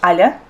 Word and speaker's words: Alia: family called me was Alia. But yeah, but like for English people, it's hard to pronounce Alia because like Yeah. the soft ya on the end.